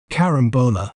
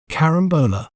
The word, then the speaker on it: carambola: do we say its name correctly we may pronounce it as Carambola Carambola k rum Bo La Carambola despite its delightful